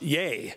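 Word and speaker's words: YEA!: YEA exclamation mark is there is YEA with an exclamation mark is pronounced yay, and yay is a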